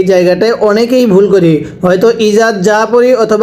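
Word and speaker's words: إِذَا: ইজা আ এই জায়গাটায় অনেকেই ভুল করি হয়তো ইজা পড়ি অথবা বা ইজা পড়ি এই জালকে কখনো জিম পড়া যাবে না।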